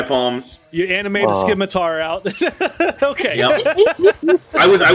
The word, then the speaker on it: scimitar: Scimitar, Ignore the yeah. C. Added an extra Scimitar. syllable. Yeah, it's like science.